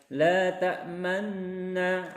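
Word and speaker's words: لَا تَأْمَنَّا: Nah, harusnya kita tadi membacanya itu kan tulisannya la ta'manna, la ta'manna. Tapi karena ada isman jadi kita membacanya la ta'manna, ada moncong.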